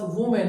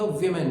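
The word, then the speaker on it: women: ये क्या बन जाएगा वीमेन बन जाएगा। इसको फिर आप वीमेन की तरह प्रोनाउंस करोगे, ठीक है। ये वुमेन नहीं है, इसकी प्रोनाउंसिएशन फिर वीमेन हो जाएगी।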